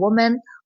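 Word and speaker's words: women: लेकिन जब अगर ज्यादा है एक से ज्यादा है तो ये इस तरह प्रोनाउंस नहीं होगा बल्कि ये होगा वुमेन। वुमेन। ठीक है? वीमेन। इसकी राइट प्रोनाउंसिएशन है वुमेन। ठीक है?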